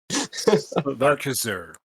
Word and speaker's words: Arcaxer: Aaron and Anthony are working on the game Arcaxer. Is that how you pronounce that? It's always going to trip me up. Yeah, that's about right. Everyone has a hard time with it, but everyone also pronounces it right. It just doesn't it doesn't feel right. It's a made-up word. You can say it however you want.